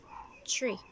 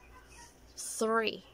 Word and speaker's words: three: So some of you would actually say this tree. Tree. It's wrong. You can find the tree outside. But this one is three.